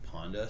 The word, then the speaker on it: Panda: Unlike Panda, which rhymes with Honda.